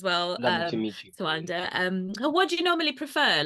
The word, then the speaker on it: Tawanda: So I'm not one of those people that, likes to overly correct people about how to pronounce my name. As long as you get the gist, like it's Tawanda. So some people say Tawanda, some people say Tawanda, so they're just different variations of how people say it.